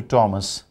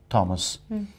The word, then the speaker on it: Thomas: learners the word t-h-o-m-s people usually pronounce thomas it should be thomas although it is th but it sounds like thomas and the nickname for